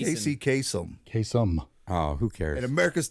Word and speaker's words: Kasem: Ladies and gentlemen, Casey Kaysen. Nobody remembers. Casey Kasem. Casey Top Kasem, 40. you pronounced it wrong.